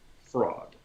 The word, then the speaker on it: fraud: So I say fraud. So the difference here is whether it's or. I'm saying or. And it's more R, right? Fraud.